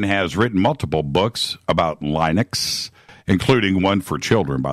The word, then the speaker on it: Linux: Linux?